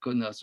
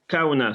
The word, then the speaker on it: Kaunas: mais un biélorusse et kaunas aujourd'hui non on peut prononcer kaona cpu c'est mieux comme ça qu'on dit je crois qu'à à huay nam